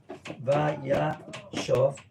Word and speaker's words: Vayeshev: That's Vayashov. Vayashov. Remember the following rule of reading Tanakh. When we have a Tanakhic verb with two consecutive kamats, okay? Is that clear to everyone? Right. Two consecutive kamats. Vayashov.